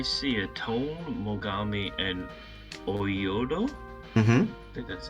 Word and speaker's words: Oyodo: base as i see a tone mogami and oyodo that's how you say it they all became